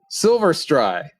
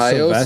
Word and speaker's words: Silvestri: And the music was composed by Alan Silverstry. Isn't it Silvestri? Silver? Okay, Silvestri. Oh, my Depending on gosh.